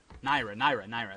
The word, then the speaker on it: Naira: Niara. Is that how you say it? Naira.